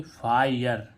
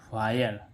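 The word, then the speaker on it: fire: तीसरा रूल क्या है किसी भी शब्द के अंत में आई के साथ आरई हो तो इस आई आरई को आई अर पढ़ते हैं क्या पढ़ते आयर जैसे एफ आई आरई आई आरई को क्या पढ़ेंगे फायर क्या पढ़ेंगे फायर ठीक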